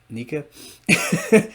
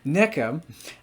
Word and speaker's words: NECA: I mean na uses na that's how my screen reader pronounces it forgive me please NECA NECA uses very hard